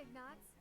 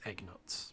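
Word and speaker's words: Ignatz: but you know hey ignorts what are you doing here uh ingrid you pronounced it wrong it's egg nuts but common mistake dory uh hello oh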